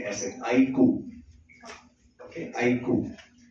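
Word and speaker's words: iQOO: Pronounce करते हैं ऐसे, आईको। ओके, आईको। तो सिंपल तरीका याद करने का, जैसे आप कहते हैं आई कूल, तो कूल में से L हटा दो, तो आईको।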